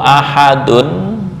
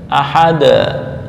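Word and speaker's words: أحد: Jadi, qul huwallahu ahadun ya. Karena ketika dalnya waqaf mengikuti harakat sebelumnya di harakat sebelumnya kan ha fathah. Maka cara membacanya qul huwallahu ahad. Ahada. Ahada. Seolah-olah kayak membaca fathah.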